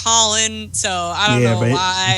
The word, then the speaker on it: Colin: parents didn't name me colon hey in Irish culture it's pronounced Colin so I don't know